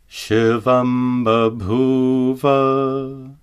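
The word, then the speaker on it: शिवं बभूव: For example, Shivam babhuva. Notice that the anuswara is pronounced as a labial ma. Shivam babhuva.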